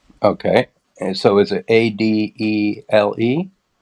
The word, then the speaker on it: Adele: And so is it Adele? Adelle. Le. Okay. Yes. The And E. Broom. And can you spell that for me?